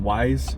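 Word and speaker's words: Weis: sign but there's a it's called wise I think that's how you pronounce it we i s that's a grocery store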